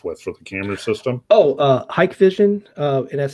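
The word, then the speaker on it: Hikvision: Hike Vision, and that's spelled, I think, HIK Vision.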